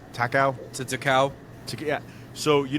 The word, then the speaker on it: Takao: Takao.